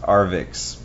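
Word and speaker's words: Arvixe: by arvik web hosting that's a RV iix E I guess the the E is silent it's pronounced arix and um arix we've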